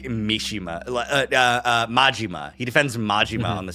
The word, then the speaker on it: Majima: Mishima's Kazu Mishima. I said the name wrong. It was Majima.